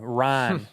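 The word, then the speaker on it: Ryne: And it's spelled R Y N. Ryan. Ryan.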